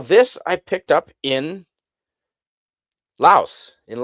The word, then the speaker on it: Laos: Uh well, this I picked up in Laos in Lao. They don't pronounce the s there.